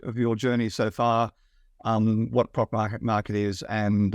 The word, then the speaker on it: Proc Market: Is that the right pronunciation? Yeah, Proc Market.